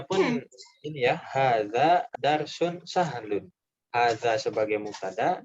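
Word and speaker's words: هذا: Hada darsun sahlun. Hada darsun ashalu fil kitabi. Nah, bukan diubah menjadi pelajaran paling mudah. Coba lihat contohnya di atas. Coba. Ya, kalau tadi cara bacanya pun ini ya, hadza darsun sahlun.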